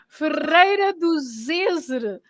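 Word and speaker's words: Ferreira do Zêzere: Ferreira do Zezer.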